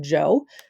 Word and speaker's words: Zhou: Yes, this is pronounced Zhou, from 1045 to 221 BCE.